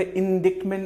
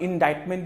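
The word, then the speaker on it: indictment: इसका प्रोनाउंसिएशन थोड़ा सा सही कर ले, इंडिक्टमेंट नहीं होगा, इंडाइटमेंट इज the pronunciation, इंडाइटमेंट, fine.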